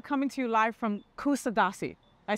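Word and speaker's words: Kuşadası: And we are coming to you live from Kusadasi. I said that right, John? The right pronunciation is Kusadasi. Kusadasi.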